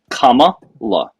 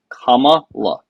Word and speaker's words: Kamala: Kamala. Kamala. Not comma law.